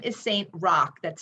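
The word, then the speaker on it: Roch: that involves another Saint his name is Saint Rock that's spelled r-o-c-h he lived in the 12th and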